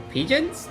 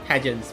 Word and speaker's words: pageants: Pigeons? Pageants, pigeons, pageant. Pageant. Pageants, right? How do you pronounce this word? Pigeon? It's not pigeons, pageants. Swallowing them like tasteless stardust,